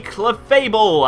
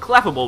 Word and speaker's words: Clefable: is going to be clefable and I said it right like in my Showdown session I was calling it cable which is it's not right apparently but yes we got ball